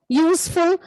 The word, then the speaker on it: useful: See a unicorn, uniform, useful. All these words, it has a YU sound.